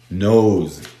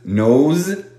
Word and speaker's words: nose: Nose. De nuevo. La S en nose, nose, se pronuncia con vibración.